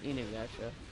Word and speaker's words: Inuyasha: It's pronounced Inuyasha.